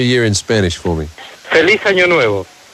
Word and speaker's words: Feliz Año Nuevo: Feliz Año Nuevo. Felice? Feliz Año Nuevo. Feliz Año Nuevo. Yeah, that's very correct.